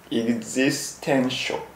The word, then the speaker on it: existential: Existential shock。Existential crisis。